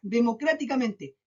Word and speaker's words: democráticamente: Miren acá, democráticamente, democráticamente, 7 sílabas. Veamos dónde se carga la voz. Última, penúltima, antepenúltima, antepenúltima, antepenúltima. 1, 2, 3, 4, 5. En la quinta sílaba. O sea, después de la tercera sílaba, siempre que se cargue la voz ahí, van a ser sobredrújulas.